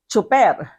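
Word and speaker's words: tsuper: So we say driver or we say chofer. Okay? So driver and chauffeur. Then we spell it in Filipino, chofer, T-S-U-P-E-R, or driver.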